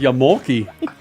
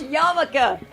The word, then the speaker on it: Yarmulke: Yeah, that's like Yamulki. Jesus. Yarmulke.